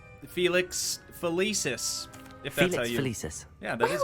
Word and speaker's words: Felix Felicis: go out on a limb here and say Felix felicis yeah that is how you say it okay